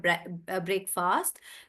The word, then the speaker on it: breakfast: that's why it's called breakfast. But it's not pronounced that breakfast. It's pronounced as breakfast.